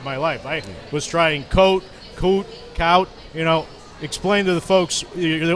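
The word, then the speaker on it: Kohte: And it's K-O-H-T. Yes. But pronounced K-O-O-T. Yes, correct. Okay. Well, that's Lars Coote, who joins us this week.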